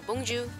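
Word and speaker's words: Bonjour: 그래서 우리가 흔히 아는 봉주르 얼 끝에 r이 들어가기 때문에 봉주 봉주 그렇게 너무 강조하지 않으셔도 됩니다 생략하고 그냥 봉쥬 하셔도 무방해요 또 우리 잘 아는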